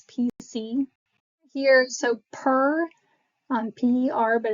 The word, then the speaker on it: per: Here, so per on p e r, but it's pronounced per, not the actual um, letters.